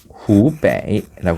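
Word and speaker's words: 湖北: 이 호북성을 가리켜서 발음이 후베이라고 합니다.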